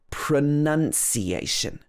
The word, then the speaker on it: pronunciation: And when I was at school, I remember one of my teachers corrected me because it's not pronunciation. It should be pronunciation. So in the middle, we have none.